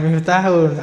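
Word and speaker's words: مفتاح: loh Ma Ma nak ndak itu baca dulu bacanya nah miftahun Alif itu bukan wau miftahun kalauahun ahun E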